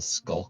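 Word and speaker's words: sculk: Minecraft apparently called a skull sensor I've never heard of this it's spelled SC ulk sensor like in start of sense skulls whatever the heck that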